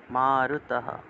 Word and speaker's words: মারুতঃ: ন শুষয়তি, ন শুষয়তি মারুতঃ, বিসর্গ থাকলে হ উচ্চারণ। মারুতঃ।